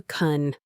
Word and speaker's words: can: Can, when it's unstressed, is often reduced to kun.